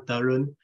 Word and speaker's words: Tarun: So my name is Tarun, and it's like a soft T in the beginning, like a TH type of sound, Tarun.